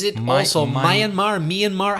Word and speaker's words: Myanmar: my soul myeon Mar Myanmar how does that pronounce my and Mar my and Mar my a n ma are yeah it's an interesting